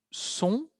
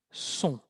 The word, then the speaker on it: sont: Y en fin, sexta persona, ils sont, sin pronunciar la T, elles sont, el sonido un.